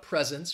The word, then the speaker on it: presents: you're a little unsure the answer is a it is the first syllable um the first syllable is stressed she um she got a lot of presents for her birthday and